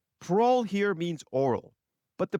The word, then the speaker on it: parol: is answered by the parole evidence rule. One preliminary note before we get too far. It's spelled parole, not parole with an e. It's not what you get for being good in prison. Pearl here means oral.